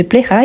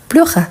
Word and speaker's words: plaira: que se plaira donc le correct se plaira et pas pleura je fais exprès pourquoi